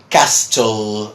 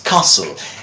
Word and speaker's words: castle: a lot and then you will say Castel or whatever I mean they tried to pronounce again trying to pronounce every single letter and prejudices council just tussle so what you do is basically like Jacob take this away in some way just to give you a visual help right it's Castle and so the zebra